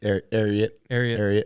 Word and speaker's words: Ariat: Ariat, like secretariat, like the horse.